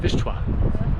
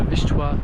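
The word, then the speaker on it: Wisła: So, this is the Vistula River in English, but in Polish you pronounce it Vishua, the Vishwa river all the way from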